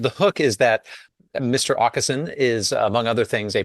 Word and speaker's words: Åkesson: to pronounce it because it is that Swedish letter that is the A with the little circle over it, which I believe is pronounced "å," and it is actually a letter after Z in the Swedish alphabet.